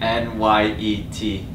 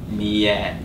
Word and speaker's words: Nyet: Alright, the way we taught people is basically N-Y-E-T. Nyet. It's not the proper way, but it's close enough. We can talk about that actually, how that all came to be. Yeah, go for it. So the proper Vietnamese pronunciation is Nyet.